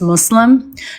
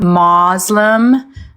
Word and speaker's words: Muslim: It's pronounced Muslim, not Muslim.